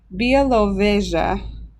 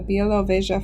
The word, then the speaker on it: Białowieża: And I spent a lot of time pronouncing this. Białowieża is the name of the forest. The Białowieża forest has 800 European bison.